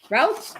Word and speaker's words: routes: The reptiles use pipes as shelters or traveling routes. How do you say it? You say routes, routes. Routes. Routes. That's routes. Not like roots, like when you family roots, whatever, right?